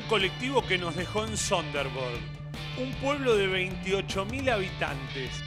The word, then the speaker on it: Sønderborg: Sønderborg. Y la O esa que es como la O de River.